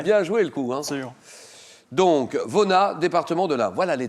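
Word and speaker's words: Vonnas: m'avez dit oui d'accord vonas on prononce le S ou pas non on prononce pas le S alors Vona Vona c'est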